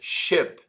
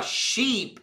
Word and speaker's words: ship: Essa palavra aqui, ó, ship, prestem atenção na pronúncia, ship. Esse I que você vê ali, ele tem um som próximo do E, ship. Se você falar sheep, é ovelha, tá?